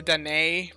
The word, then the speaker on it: Dedenne: annoyed by it, but I know it's technically Dedenne, but for some reason it just doesn't come out right for me. But anyway, my brain just thinks of it as Dedenne, I don't know why. But anyway, Dedenne.